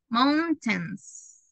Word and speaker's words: mountains: that I show you it's like Mount and then like you pronounce the number 10 mountains mountains mountains we really